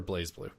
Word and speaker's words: BlazBlue: Is that pronounced BlazBlue or BlazeBlue? Blaze, Does anybody care?